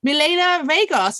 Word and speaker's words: Milena Regos: And I am so happy to welcome today Milena Regos. Is that pronounced correctly?